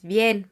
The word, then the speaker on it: bien: vas ahora podemos decir que es bien B n pero vamos a hacer un sonido nasal al final de on bien Ahora la conjugación para